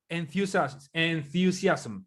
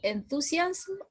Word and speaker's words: enthusiasm: Profesor, ¿cómo se pronuncia enthusiasm o enthusiasms? Enthusiasm. Las palabras que terminan en SM se pronuncia sm al final.